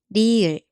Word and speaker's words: 리을: Its sound is somewhere between R and L in English. R or L. At the beginning of a syllable, it sounds like a light, soft R, and at the bottom, it sounds closer to an English L.